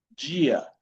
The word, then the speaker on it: dia: Tenemos cuando la letra D se encuentra con la vocal I, ¿okay? Con la vocal I. La pronunciación va a ser más o menos de la consonante Y en español.